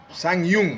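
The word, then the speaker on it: Tsangyang: Sang Yung actually. It's spelled T-S-A-N-Y-A-N-G.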